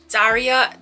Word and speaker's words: Daria: so first things first my name is Daria not Daria not DeRay not darya it's Daria correct pronunciation Daria rule hence Daria 23 years 24.